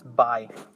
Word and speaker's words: buy: it's i not buy many times people say boy but it's not like that it's i mean the pronunciation is by the next one is build which is construct